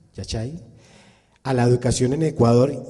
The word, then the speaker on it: Yachay: La pregunta es, ¿cuál es el aporte del proyecto Yachay, se pronuncia así, Yachay, a la educación en Ecuador y en Latinoamérica?